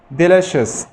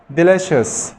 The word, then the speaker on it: delicious: delicious، delicious، سي اي وبعدين الاو حرف متحرك.